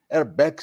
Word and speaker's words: RBAC: RBAC is the correct pronunciation.